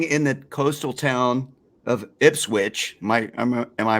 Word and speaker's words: Ipswich: This British man living in the coastal town of Ipswich. Am I pronouncing that correct, Phil? That's right. Yeah. Ipswich.